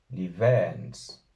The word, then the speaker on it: 𐌻𐌹𐌱𐌰𐌹𐌽𐍃: Aquí hay que tener cuidado con la B, que hay que pronunciarla con los labios, pero casi como una V, no como una B normal plosiva, sino como una B acercándose a una V.